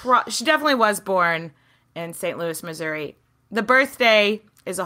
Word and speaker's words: St. Louis: And overwhelmingly, everyone was like, it's St. Louis. You pronounce the S.